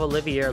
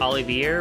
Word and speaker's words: Olivier: i also realized that his name probably also was pronounced olivier but just like oliver olivier but i've always said it like individual syllables wise like only the air so i apologize for